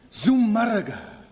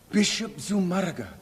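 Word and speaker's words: Zumárraga: Bishop Zumarraga, Zummarraga, Arraga with the accent on the U.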